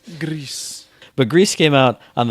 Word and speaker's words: GRIS: the musical but Greece like the way French people would pronounce Grey Goose or Gris I heard people saying Gris which is not right Greece but Greece came out